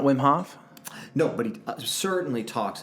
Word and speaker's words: Wim Hof: Is it not Wim Hof?